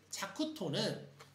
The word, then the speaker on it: 자쿠토: 자쿠토는 기본적으로 자쿠 일족의 수령 카시라가 이제 머리 두 자 서서 카시라라고 있는데 그거를 발음대로 읽어서 토가 됩니다.